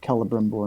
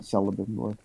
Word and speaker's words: Celebrimbor: Elves is hard C. Yeah, I believe so. Like Celebrimbor, not Celebrimbor.